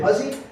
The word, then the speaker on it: Hussey: But my other favorite one of a kind is in Windsor, Maine, where Harlan Hussey, looks like Hussey, German immigrant, pronounced it Hussey, also, just like Dan and Witt, did very well all through the 1920s, 30s, 40s.